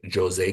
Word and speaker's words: José: He meets a Brazilian parrot named José Carioca. Um, yes, it's Portuguese. The J is pronounced in the name.